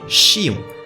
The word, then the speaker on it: Xion: la médecine ergologie chinoise au japon cette fleur se prononce vous l'aurez deviné chillon et porte la signification